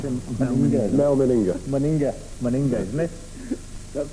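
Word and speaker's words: Mal Meninga: How do you pronounce him? Mel Meninga.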